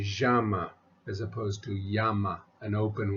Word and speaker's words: llama: is pronounced yeah and the Double L is pronounced as a y so we would say not llama but Yama Yama Yama me yamo me